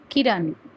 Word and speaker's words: किरण: छोटी इ की किरण इसमें आप देखेंगे कि ये जो इकार है इसका जो उच्चारण है किरण ज्यादा लंबा नहीं किरण की किरण नहीं है किरण क प्लस बड़ी ई की मात्रा की कीमत कीमत थोड़ा सा बड़ा होता है इसीलिए इसको बड़ी ई बोला जाता है।